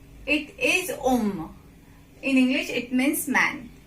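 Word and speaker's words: homme: Now here H you will not pronounce in front of word. Okay, like om. You will not say home. It is om.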